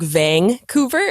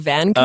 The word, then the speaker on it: Vancouver: second T isn't there same with Vancouver is like Vang coover instead of Vancouver oh okay it's another